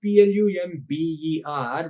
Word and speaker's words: plumber: particular word so uh here the spelling is p l u m b e r but the pronunciation of that word is plama no bar no already and plumber s-u-i-t-e sweet c-h-e-r-i-s-m-a Karishma